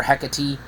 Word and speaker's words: Hecate: I call her Hecate.